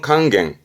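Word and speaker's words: 甘言: 이의미 쓰는 부분이죠 그렇죠 감언 발음은 강갱 강갱 말 그대로 달콤한 이야기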